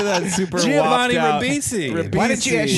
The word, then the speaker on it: Ribisi: Ribisi.